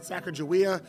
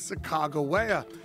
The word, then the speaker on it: Sacagawea: Now, most kids pronounce it Sacagawea. The correct pronunciation is Sacagawea.